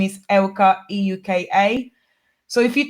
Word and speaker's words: Euka: everything yeah Facebook you can find is spelled like one like don't one foreign ITA and in my last name is Elka EU ka so if you type it in